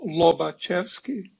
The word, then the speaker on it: Lobachevsky: that gets spelled in various ways but it's pronounced lobochevsky you might care about legapunov and so on